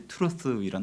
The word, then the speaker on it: truth: 자, 진리란 단어는 영어로 이제 truth이란 단어로 씁니다. 우리 보통 학교 다닐 때 배운 단어로 번데기 발음이라고 하죠. 뜨라는 th 발음. 그래서 전문 용어로는 이제 치간음, 그래서 이빨 사이에 들어가는 치간음, 또 마찰음, 이런 전문 용어로 쓰입니다.